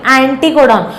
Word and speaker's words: एंटीकोडॉन: Anti मतलब aunty नहीं, एंटीकोडॉन. बहुत बच्चे अंटी प्रोनाउंस करते हैं, सीरियसली. एंटीकोडॉन होता है.